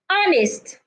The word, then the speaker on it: honest: a deep breath remember the only time you need to take a deep breath is when the age is not silent if the age is silent then do not take a deep breath instead hold your breath so you go air